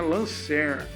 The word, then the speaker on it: Lancair: Aí ele mudou o nome da empresa para Lancair, que a gente pronuncia errado, e muitas vezes os americanos também pronunciam errado. A pronúncia correta para Lancair é Lancer.